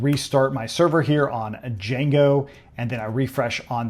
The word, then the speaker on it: Django: So, it's kind of like Django where the D is silent.